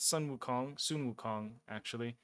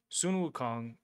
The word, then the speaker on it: Sun Wukong: that I've been farming Odin on, I put Sun Wukong, is how you pronounce it proper. Sun Wukong, because he's built very weakly, and because he's immortal, he comes back.